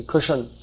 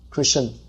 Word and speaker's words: Krishna: Even Krishna, they say Krishan. It's common, isn't it? In North India, Krishan.